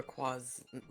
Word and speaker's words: Lacroix: Lacroix's name wrong. It's Dr. Lacroix, name, the Crocs.